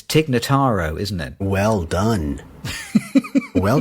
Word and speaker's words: Tig Notaro: name that I'm going to get wrong it's TIG nataro isn't it well done well done you did